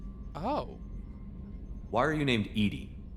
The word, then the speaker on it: EDI: Um, oh, why are you named Edy? Edy is the phonetic pronunciation of EDI.